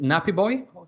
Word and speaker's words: Nappyb0yy: By the way, how do you pronounce? Is it Nappy0yy Yeah, or yeah, okay? that's how you pronounce it.